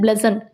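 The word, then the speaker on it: bludgeon: Next पढ़े हमारे पास ब्लेजन, इसका प्रोनाउंसिएशन होता है ब्लेजन, BLUDZEN।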